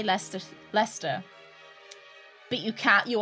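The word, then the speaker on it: Leicester: back to my rounds pronouncing leester makes no sense Lester is how I hear American Beautiful Bast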